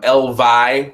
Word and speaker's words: EL VY: everyone at home um elv they say is pronounced like the plural form of Elvis and it is Matt